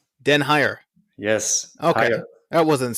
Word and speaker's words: den Heijer: I'm going to wait for him to pronounce his last Dutch name. Den Heijer. Say it again. Den Heijer. Den Heijer.